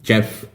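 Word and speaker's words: Geoff: He's Jeff spelled with G-O-E. Is it P-H? No, with an F. Sorry. So it's G-O-E-F. Jeff. I think that's how it's pronounced.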